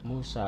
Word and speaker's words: Musa: Tapi kalau bahasa Ibrani khas tradisi Samaria menyebutnya bukan Mosye tapi Musi. Arab jadi musi. Sedangkan dalam bahasa Arab Quran menyebut Musa. Muse atau menyebut Musa. Jadi tokohnya sama tapi cara pelafalan bisa beragam.